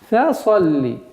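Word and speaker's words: فَصَلِّ: Переходим на второй аят. Фа-салли. Фа. Фа мягкий звук. Нельзя его произносить фа. Фаса. Фаса. Нет. Фа-салли. Фа-салли. Сад твердый звук.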